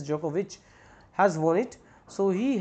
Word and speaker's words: Djokovic: djokovic has novak djokovic you can say the pronunciation is jokovic has won it so